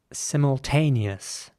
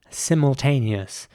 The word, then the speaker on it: simultaneous: The next word is spelled S-I-M-U-L-T-A-N-E-O-U-S. And in British English, it would be pronounced simultaneous. And I want to emphasize the I again at the beginning. It would be simultaneous.